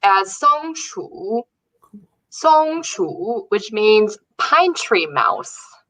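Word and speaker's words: 松鼠: before the show i translated squirrel and it's pronounced as songshu which means pine tree mouse and then the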